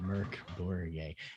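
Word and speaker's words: Mörk: growing swedish team and her name spelled mork but it's pronounced merc so i'm like oh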